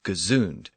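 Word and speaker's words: gesund: retained its prefix and continued to be pronounced as gazon and in its sense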